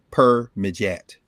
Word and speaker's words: Permedjat: You can, well, yeah, I'll spell it out. It's PERMEDJAT. Per-Mejat.